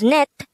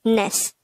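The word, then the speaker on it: 넷: the t sound so this will be pronounced as net instead of ness next the native korean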